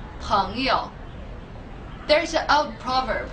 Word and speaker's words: 朋友: Friend is pronounced 朋友. 朋友.